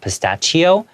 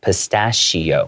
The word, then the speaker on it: pistachio: And that pronunciation of "pistachio", even though it has a "ch", it's not /pɪsˈtætʃioʊ/, it's more of an /s/ sound: /pɪsˈtɑːʃioʊ/.